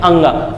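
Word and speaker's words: ङ: इसका उच्चारण क्या है, इसको क्या बोलते हैं, अंगा।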